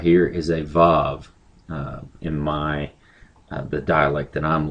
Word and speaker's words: Vav: But anyway, this letter right here is a Vav in the dialect that I'm learning. In other dialects, it's pronounced as like wall. I believe that's how you pronounce it, a wah. It's a W sound.